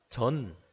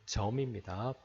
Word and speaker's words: 점: 점점 이라는 뜻의 정자입니다 이거를 어 점이 아니라 전 뭐 이렇게 얘기하는 사람이 있는데 잘못 말하는 겁니다 발음이 점입니다 어렵죠 다음 해에 두